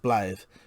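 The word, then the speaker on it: Blaidd: beginning the surname lilibeth blave blave i think is um welsh it's it's written as like blood but pronounced blathe means wolf he told me that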